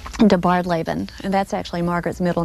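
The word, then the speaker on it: DeBardeleben: they found a family in Birmingham and it's pronounced debarred Laban and that's actually Margaret's middle name and she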